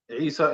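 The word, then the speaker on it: عيسى: Isa is with the Ain.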